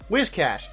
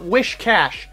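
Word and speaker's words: Whiscash: Wishcash, not Wishcash.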